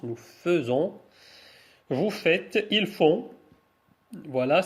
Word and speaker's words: faisons: il fait nous faisons ça se prononce nous faisons vous faites ils font